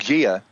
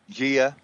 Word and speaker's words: Gaia: Gaia? We say Gaia. Gaia. Yeah. Okay. Right. Right. Okay. Gia, Gaia.